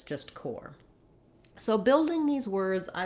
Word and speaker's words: Corps: Interestingly, this core and this core have the same pronunciation. So this is the core, like the center of something, and this is core like the Marine Corps. And so this P and this S are both silent.